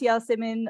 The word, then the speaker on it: Yasemin: It's actually pronounced Yasemin, originally from a name originally from Turkey, but everyone calls me Yasmin, and no problem with that.